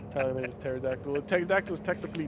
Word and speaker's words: pterodactyl: can't you hear a pterodactyl go to the bathroom oh boy cuz the p is silent yes the P pterodactyl pterodactyl is technically not